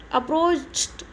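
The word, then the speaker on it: approached: यानी जहाँ भी चकपश आए उसमें डी अथवा ईडी का उच्चारण क्या होगा, ट, क्या होगा, ट। जैसे कि अपन ने पढ़ा था यहाँ पे अप्रोच, अप्रोच, पीछे च आया ना उच्चारण में, तो आप क्या पढ़ोगे, अप्रोच, अप्रोच्ड, अप्रोच्ड, क्या पढ़ोगे, अप्रोच्ड।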